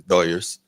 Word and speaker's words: Dodgers: that's what they say the doers they um yeah yeah I think that's how it's like pronounced in Spanish because the Dodgers it's